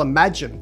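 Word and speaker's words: Imagen: Google Parti is almost like a compare and contrast with Google Imagine, thanks to Dr. William Chan and the team at Google Research for confirming with me the pronunciation of that, we got it right.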